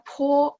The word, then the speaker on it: 坡: Nah, baca po, PO kan ya. Kan pininnya PO. Nah, P dibaca PH. Masih ingat ya, ada angin. Terus O-nya itu dibaca UO. Po ya. No po, no. Po ada UO-nya ya.